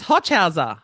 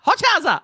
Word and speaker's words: Hochhauser: It's Hochhauser. Hochhauser.